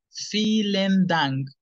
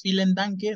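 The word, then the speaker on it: vielen Dank: decimos en alemán silen Recuerden que la v suena como felen dung Muchas gracias Ya sin la e no es fiel en Tanque no es correcto feeling Tank y se despide a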